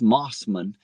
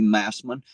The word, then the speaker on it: Mossman: I pronounced it like Moss, Mossman. And apparently that's not correct. It is supposed to be Massman, but she said it sounded better when I said it wrong.